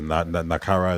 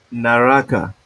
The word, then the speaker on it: Naraka: the Naruto um and Playstation games um the nakara is Battle Royale naraka FASA sorry look look trying to cancel me